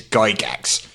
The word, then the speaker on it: Gygax: he very very specifically and clearly said is Gygax Oh family pronounces that name so anyone that says otherwise